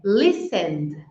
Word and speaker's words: listened: Então, não é listened, called, stayed. É listened, called, stayed. Fala o verbo e coloca um de.